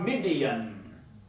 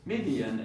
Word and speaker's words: Midian: Professor, in Testament, that is Midian, M-I-D-I-A-N. Yes. But in Quran, that is Madian, M-A-D-Y-A-N. Got it? Pronunciation in different languages is different. So there is Midian, here is Madian.